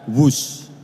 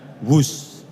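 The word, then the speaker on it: WHOOSH: W-H-O-O-S-H. Dibaca WUSH. Ini diinspirasi dari suara yang melesat dari kereta berkecepatan tinggi ini. Dan singkatan dari waktu hemat, operasi optimal, sistem hebat. Sekali lagi, W-H-O-O-S-H, tapi bacanya WUSH.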